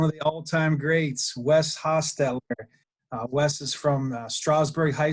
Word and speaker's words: Hostetler: Most people, as Coach Paul said, is Hostetler. It's actually pronounced Hostetler.